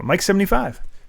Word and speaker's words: MYC75: Mike is pronounced Mike. I'm MYC75 on PlayStation. So Mike 75.